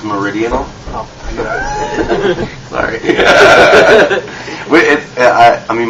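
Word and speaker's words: Meridional: your current album uh maradona um i read that you guys went back to your roots with that album um reason being yeah it's pronounced meridian sorry yeah i i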